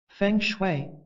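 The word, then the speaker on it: feng shui: art of Designing and creating a harmonious environment fangue pronounced fun is based on the belief that energy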